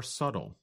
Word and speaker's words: subtle: But other differences are more subtle. That's spelled S-U-B-T-L-E. But we do not pronounce the letter B in the word.